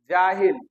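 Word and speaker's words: جہلا: दवा की जमा अदबिया जाहिल जाहिल की जमा याद रखिएगा जोहाल और जोहला तशदी के साथ उच्चारण करेंगे जाहिल जोहला जोहाल एंड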